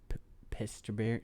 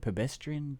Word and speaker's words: Presbyterian: It was in Stanford at the Presbyterian. How do you say that? Pedestrian Church?